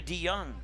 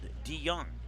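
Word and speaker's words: DeJong: will bring up Jonah D young number 16 and Jonah early swing and a miss strike one for Dion his name's spelled d-e-j-o-n-g but it's pronounced like young and old D young he'll show bunt in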